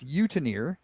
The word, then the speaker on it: Eutenier: It's Utenier, and it's spelled Eutenier.